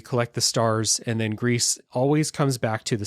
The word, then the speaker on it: Gris: far and doesn't know Greece is the Spanish word for gray so that is how we know the pronunciation of the title red is introduced into